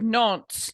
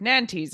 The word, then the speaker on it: Nantes: no not Huguenot and it is the Edict of nonce not the Edict of Nantes as you I don't